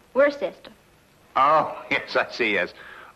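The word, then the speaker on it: Worcester: too doc but it's spelled w r c e s t e r wor sest oh yes I see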